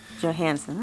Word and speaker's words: Johanesen: Johanesen, right?